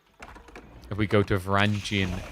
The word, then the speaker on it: Varangian: I think some places pronounce it Jun and some pronounce it Gian. But basically, the beginning is Varangian instead of Gian. J, not G.